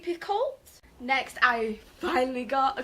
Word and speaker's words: Picoult: by Jodi pic yeah I always pronounce it wrong Jodi Picoult next I finally got